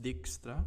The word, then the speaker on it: Dijkstra: Numerous algorithms can solve the shortest path problem, and one of the most famous one discovered by Edge Dijkstra, pronounced Dijkstra, in 1959.